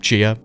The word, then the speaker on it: Xia: Chia is next, and it's spelled Xia, but I think it's pronounced Chia, so just bear with me.